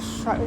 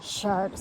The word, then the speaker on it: Chartres: to, and it's not Chartres. Every time you tell people as you're going to Chartres, they look like they pronounce it Chartres. The R is silent.